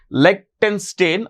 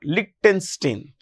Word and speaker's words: Liechtenstein: So, Switzerland, Norway, you can pronounce it as Liechtenstein or Liechtenstein.